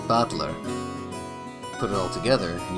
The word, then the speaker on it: Battler: Battler is made up of the characters for fight and person, and it's pronounced Battler.